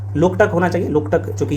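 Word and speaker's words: Loktak: अगला प्रश्न है ना, लोकतक एक डाइस है, लोकटक होना चाहिए, लोकटक चूंकि ये झील है, आप सबको पता होना चाहिए, है ना।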